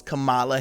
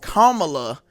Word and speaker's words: Kamala: running for president I thought it always was Cala Harris now once she said it it's Kamala Harris so I'm with it now we about